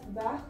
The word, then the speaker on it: vert: Okay, so there is an additional E, that's why the sound comes of vert. The T pronounces here, but not in this case.